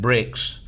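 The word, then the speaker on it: BRICS: as BR rics uh you would pronounce that bricks is an acronym or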